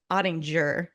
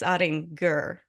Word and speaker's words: Ottinger: I actually learned this the last time we were on set together, that your name is not pronounced Ottinger. It's Ottinger. Correct.